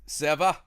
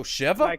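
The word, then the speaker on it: שבע: Seva. Hey, no, Seva. Oh, Sheva? Like the city Beersheba.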